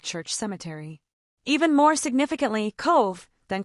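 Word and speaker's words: Cobh: Cove, the Titanic's last port of call, pronounced Cove, this harbor town in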